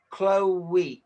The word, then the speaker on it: Chloe: I would So, say Chloe is two syllables. okay. Even though the way it's spelt, it looks like it should be one syllable, I think.